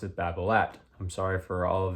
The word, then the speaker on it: Babolat: the brand known as Babolat. Now the thing is if you want to actually pronounce Bablat correctly because they are a French company, it is technically pronounced Babola. You don't pronounce the T.